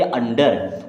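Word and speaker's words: under: 2 consonant आते हैं, तो हमेशा यू का उच्चारण करिएगा आ की तरह, छोटा आ। जैसे यू तो बन जाएगा आ, ठीक है। फिर ना तो आधा ना, या अन की बिंदी चाहे ऐसे लगा सकते हैं। अब DER तो डर, क्या हो जाएगा? डर। इसे पढ़ेंगे अंडर।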